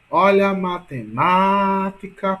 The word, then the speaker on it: matemática: E matemática? Olha a matemática, portanto, ma é a mais forte. Portanto, a sílaba tônica de matemática é ma, entendeu?